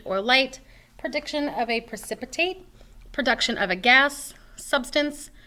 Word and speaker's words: precipitate: So this is pronounced just like precipitation, like rain or snow. It just doesn't have the last part, so it's precipitate.